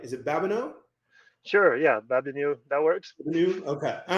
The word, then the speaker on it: Babeanu: I'm gonna make sure I pronounce this right. Is it Babeanu? Sure, yeah, Babeanu.